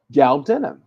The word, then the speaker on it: galbanum: And that has galbanum, galbanum, galbanum. That's how you say it. Galbanum.